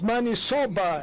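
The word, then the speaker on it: maniçoba: The interpreter could interpret it correctly because it's manisoba, as you pronounce it.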